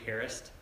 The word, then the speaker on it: harassed: cora's rebellion the lesson today i called it harassed from the past and it's a weird title yesterday yeah did you know that the way to pronounce harassed is actually harris yeah did you know that no it's called